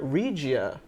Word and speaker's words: Regia: I've been saying the name wrong the whole time. It's the Perrin Regia automatic. It's REGIA automatic from the brand Perrin.